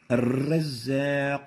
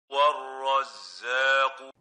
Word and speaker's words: الرزاق: This is wrong. The right way of pronouncing it is like this. والرزاق. الرزاق without الرزاق. You have to realize that mild repetition is a proper characteristic of the ra. But the wrong thing is to overdo this, to exaggerate the repetition.